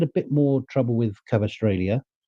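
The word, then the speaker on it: Kvaratskhelia: I think he had a bit more trouble with Cavastrellia. That's the right way to pronounce his name.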